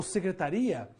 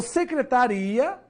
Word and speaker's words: secretaria: isso também por exemplo se eu falar assim secretária ou secretaria tem uma mudança aí na tonicidade das palavras ou seja na sílaba mais forte beleza sílaba tônica então secretaria e secretária são palavras diferentes que só é diferida ou seja só vai ter uma diferença entre elas devido aqui devido a acentuação secretaria não tem acento